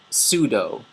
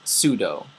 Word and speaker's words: pseudo: this one is called pseudo the P is silent pseudo pseudo means false or not